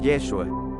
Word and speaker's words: Yeshua: podemos darnos cuenta que la forma de pronunciar su nombre en hebreo es yeshua Qué significa al traducirlo